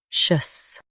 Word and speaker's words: officious: Officious. Officious. Stress fi and keep shus soft.